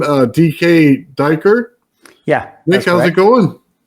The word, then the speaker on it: Dyker: And it was DK Derer. Dyker. Dyker. Okay. Yeah. I didn't want to say it wrong. No, it's like D uh Danish diver basically.